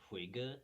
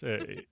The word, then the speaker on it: hygge: Yeah, Huga. Do you know it? yeah, Oh, yeah. I It's just I just googled it. yeah, it's Hygge.